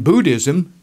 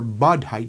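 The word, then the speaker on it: bodhi: and the heavens in Buddhism the tree of knowledge is the buddhi tree or bodh high tree it's pronounced a couple of different ways according to the Buddhist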